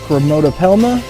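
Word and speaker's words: Chromatopelma: green bottle blue sling otherwise known as the kromoto palma oh yeah that's how it's pronounced chromotopelma yeah sienna pebescence green bottle blue super cool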